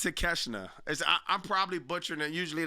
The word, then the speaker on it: Takeshita: It's pronounced Takeshita or Takeshita. Oh, it's Takeshita.